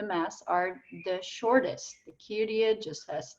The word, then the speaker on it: Kyrie: First of all, keep those names in mind: Kyrie, Gloria, Credo, Sanctus, and Agnus Dei. Those are the words, that's the pronunciation, and it's all in Latin text.